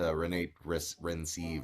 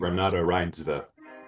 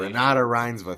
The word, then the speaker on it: Renate Reinsve: to her, despite being super fucking terrible to Renate Rensive, or I don't know how you say her name. Renata Reinsve. Really? Oh, I fucked up. Pronunciation. Renata Reinsve, thank you.